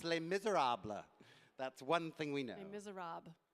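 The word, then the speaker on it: Les Misérables: I'm just kidding but it is pronounced Les Miserables that's one thing we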